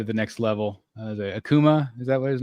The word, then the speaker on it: Akuma: Yeah, is it Akuma? Is that? Yeah, it's Akuma.